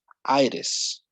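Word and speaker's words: -itis: When we have this suffix itis, we pronounce it that way, itis. It's like the T, you turn it into a D, okay?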